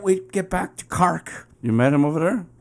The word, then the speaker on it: Cork: Downtown Cork. Cock? Cork. James, I'm in cock. Think about car. Think about saying a car. Cark.